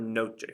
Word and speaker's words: noche: the stress falls on the second to last syllable, there is no written accent mark there. So here's the word noche, for example.